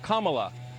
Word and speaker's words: Kamala: um hosts on fox her name is pronounced comma like the punctuation mark look kamala okay seriously i've heard